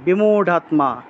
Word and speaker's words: বিমূঢ়াত্মা: ইন্দ্রিয়ার্থান বিমূঢ়াত্মা, ঢ, বিমূঢ়াৎ, রা আছে না, এটা ঢ হবে, বিমূঢ়াত্মা, র থাকলে ঢ উচ্চারণ হয়, বিমূঢ়া।